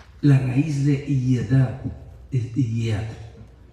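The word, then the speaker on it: יד: La raíz de yedad es yad. Estoy pronunciando como se pronuncia en hebreo. Yad, que quiere decir mano.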